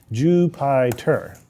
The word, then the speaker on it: Jupyter: Jupyter. It's like Jupiter, but spelled like Python.